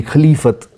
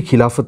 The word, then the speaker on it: Khilafat: So with that, this word Khilafat, many people say it should be Khalifat. It is actually Khilafat only.